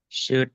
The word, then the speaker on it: should: So, how should we pronounce this? Should would.